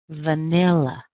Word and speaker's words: vanilla: listen again vanilla vanilla can you hear it it's right on the second syllable nil nil nil it's a little bit longer it's a little bit stronger and this is really important when you're using American English to rec recognize where your strongest syllable is because you're going to